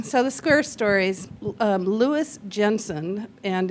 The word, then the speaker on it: Louis Jensen: So, the square stories um Lewis Jensen and in Danish they say Louis Yensen as Kate very perfectly pronounced very very well done.